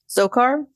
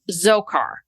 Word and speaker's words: Dzhokhar: Zokar. Zokar because the D is silent.